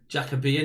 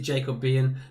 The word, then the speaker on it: Jacobian: go for jacobian it it is jacobi and if you spell it if you pronounce it jacob bien that'll be fine but